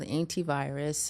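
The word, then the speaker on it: Aintivirus: So we're still working on it very much, but the project is called Antivirus. It's spelled AINTI virus.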